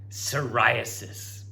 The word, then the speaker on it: psoriasis: all right last one silent p soriasis have you heard about